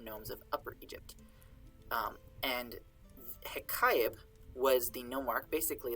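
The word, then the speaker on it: Heqaib: And ḥeḳaib is the sort of Egyptological pronunciation of his name used by Egyptologists today. His name in reconstructed pronunciation was probably something that's more like ḥeḳaib, which meant like he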